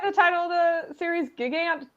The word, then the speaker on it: Gigant: Gigant, Gigant. I say gigant because she's a giant lady. Yeah, like gigantic.